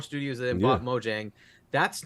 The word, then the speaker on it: Mojang: Why don't we buy Mojang? It makes sense, right? Or Mojang, I think is how it's actually pronounced.